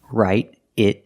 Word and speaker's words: write it: Write it down. Pronunciation, write it down. The T in write changes to a fast D, write it, write it.